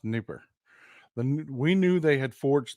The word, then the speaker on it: Dnieper: It's spelled Dnipro, but it's pronounced Dnieper.